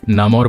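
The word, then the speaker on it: Namor: Comics में, movie में और साथ ही कार्टून्स में इसके अलग अलग प्रोनाउंसिएशंस हैं। कोई इसे नेमोर कहते हैं, कोई इसे नमोर कहते हैं, कोई इसे नामोर कहता है। तो आप लोग अपनी कन्वीनियंस के अकॉर्डिंग इस वर्ड को ले सकते हैं।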